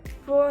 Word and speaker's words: pour: R at the end of pour is going to be pronounced because this is part of the mnemonic careful.